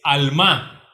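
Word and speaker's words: עלמה: la cual tradujeron virgen es alma al mar acentuada en la en la segunda estrofa en la segunda sílaba perdón alma qué significa literalmente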